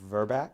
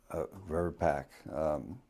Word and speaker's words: VRBPAC: Is it VRBAC? VRBAC? VRBAC? How does it normally pronounce? VRBPAC, Vaccines and Related Biologicals Advisory Committee. And that's VRBPAC.